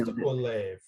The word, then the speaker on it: Olave: I was gonna say Olave, but then I got nervous that Rooney would text me and I'm sure it's just Olave.